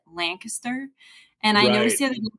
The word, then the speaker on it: Lancaster: I also pronounce uh the town we used to call it Lancaster when I grew up in Missouri but here they call it Lancaster and I noticed the